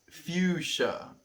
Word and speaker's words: fuchsia: Fuchsia. And pronounced fuchsia.